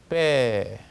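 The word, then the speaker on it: П: 17번은 알파비트 명칭이 빼, 파이자와 흡사합니다. 실제로 보면 빼라고 하고요. 발음은 뿌, 두 입술을 대면서 뿌 이렇게 내야 됩니다.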